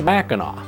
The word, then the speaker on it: Mackinac: They changed the spelling to the way they heard it, ending in AW, Mackinac. So no matter how you see it spelled, English or French, it's always pronounced Mackinac.